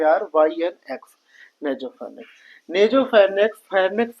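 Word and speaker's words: nasopharynx: Spelling अभी हम बताएंगे सब एन ए एफ ओ पी एच ए आर वाई एन एक्स नेजोफनेक्स नेजोफनेक्स फनेक्स का वो पार्ट होता है जहां पे हवा आती है।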